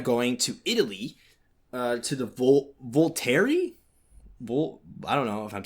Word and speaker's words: Volterra: to Italy, to the Volterra. I don't know if I'm saying that right. And basically, he's going there to. Oh, you didn't say it right. You have to say Volterra. Volterra. He's going there.